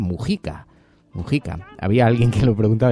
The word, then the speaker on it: Mujica: Numerosísimos mensajes sobre las palabras de José Mujica, que por cierto se pronuncia Mujica.